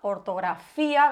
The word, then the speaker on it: ortografía: Si lo dividimos en sílabas sería reuís. Además, recordemos que los diptongos también siguen siempre la regla general de acentuación.